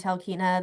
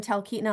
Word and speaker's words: Talkeetna: recommend Talkeetna.